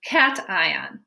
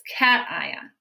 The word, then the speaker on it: cation: a cation everybody say cation cation cation it sounds like the word cat it looks like patient but it's cation so the cation is